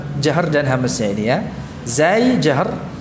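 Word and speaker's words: ز: Zai jahr, sin hams, ya. Bedakan pengucapan antara keduanya, ya. Sama-sama mengalir suaranya, namun untuk zai tertahan nafasnya, untuk sin mengalir nafasnya.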